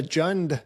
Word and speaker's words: Jund: Is that how you pronounce it? Yep. This is the Jund edition.